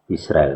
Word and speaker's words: Israel: Nah, Israel. Nah, jadi A-nya itu A cepat sebenarnya, bukan A alef yang panjang atau yang diucapkan jedanya panjang gitu, tapi pendek gitu.